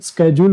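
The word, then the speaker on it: schedule: ये मोस्टली बाकी इसकी एग्जैक्ट प्रोनाउंसिएशन आप इसको स्केड्यूल बोल सकते हैं ना, स्केड्यूल। ये क्या होगा, कॉन्सोनेंट क्लस्टर का स्केड्यूल। कॉन्सोनेंट क्लस्टर है क्या इसमें, SCH, ठीक है। स्कीमेटिक, यहाँ पे पै का भी भी जाता है, बाकी इसका प्रोनाउंसिएशन मैं आपको बता रहा हूँ, स्केड्यूल होता है।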